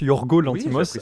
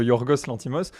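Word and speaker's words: Yorgos Lanthimos: alors Yorgos lantimos alors qui se prononce Yorgo lantimos à la place de yourorgos l'antimos c'est récemment je crois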